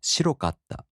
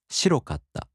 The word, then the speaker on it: 白かった: For example, 白い turns into 白かった, and the accent falls on し. 白かった.